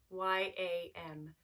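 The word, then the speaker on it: यं: And in Sanskrit, the mantra for heart is yam, Y-A-M, yam.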